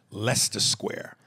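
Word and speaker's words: Leicester Square: says uh also uh the venue you're performing in London is pronounced Lester Square you butchered the out of that but now you know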